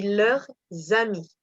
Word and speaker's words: leurs amis: En prononciation française, quand le S est suivi d'un H qui est muet ou d'une voyelle, on l'entend. Par exemple, si je dis leurs plus loin amis, mais au pluriel, je dis leurs amis parce que c'est un A. Donc ça devient un Z.